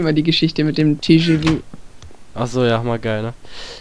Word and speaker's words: TGV: ja, glaube ich, den TGV, also den Schnellzug. So ein französischer Zug, wie die Deutsche Bahn eben nur aus Frankreich. Hatte ich schon gesagt, das wird TGV und nicht TGV ausgesprochen.